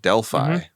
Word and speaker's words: Delphi: This is in Delphi, which this is the only time I've ever heard it pronounced like that. I always heard Delphi, but Delphi is what they call it.